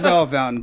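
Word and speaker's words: Bellefontaine: it's Bell Fountain, but it's spelled like Bella Fontaine.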